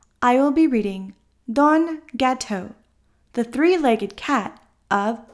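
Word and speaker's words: gâteau: mccluskey don italian forcer gateau french for pastry with cream pronounced gateau saborga pronounced saborga i live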